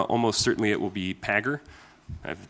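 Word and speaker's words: Pagure: In Fedora, almost certainly it will be Pagger. I have the pronunciation right? Yeah, Pagger.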